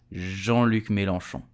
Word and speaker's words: Jean-Luc Mélenchon: So how do we pronounce his name correctly? We will say Jean-Luc Mélenchon.